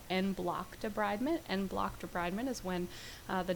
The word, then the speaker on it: debridement: the lag phase is debridement. Sometimes in videos you'll hear them say debridement, which is what is the pronunciation in human medicine, but veterinary medicine we universally say debridement.